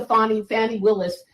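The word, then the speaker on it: Fani Willis: And we'll get to Fannie Willis, who was elected as a DA in Fulton County. And that's the correct pronunciation.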